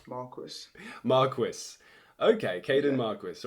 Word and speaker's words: Marquis: Kaden Marquis welcome to the wild dispatch Kaden Marquee welcome to the wild dispatch but actually I